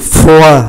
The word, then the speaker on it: froid: Thường là các ký tự sau, ký tự thứ nhất là ký tự D nằm ở cuối thì không phát âm, ví dụ foa chúng ta thì chỉ phát âm F-L-O-I, không phát âm ký tự D, foa là lạnh.